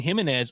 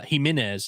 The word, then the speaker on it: Gimenez: Uh Himenez is how you say that by the way. Himenez. Himenez. Not Gimenez. Not Himenez.